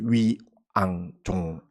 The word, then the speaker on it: 위앙종: 선풍을 날렸습니다 그래가지고 위산 영웅 앙산 해적 그래서 위앙종 이렇게 이제 발음을 하고요 이제 임재 스님은 이제 임재 의원